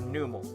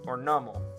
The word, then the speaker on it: Numel: Coming in at number 7, we have Numel, or Nummel, or Namel. It doesn't matter how you say it.